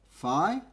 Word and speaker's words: Phi: is given the symbol Phi Greek letter this is usually spelt pH I and it rhymes with pi now the real value